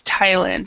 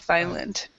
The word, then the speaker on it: Thailand: with a th we we do pronounce it with just a t so it's Thailand instead of Thailand yeah yeah excellent I've